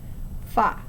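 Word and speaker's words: 发: That's because the word for the number 8, ba, rhymes with the word for prosperity, fa.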